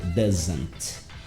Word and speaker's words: doesn't: Doesn't. Doesn't. Mas ninguém fala esse t. Então a pronúncia fica doesn't.